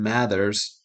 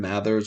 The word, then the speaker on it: Mathers: Slim Mathers Because he says matters.